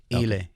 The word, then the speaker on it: iLe: How do you pronounce her name? Is it Ile? Ile. Okay.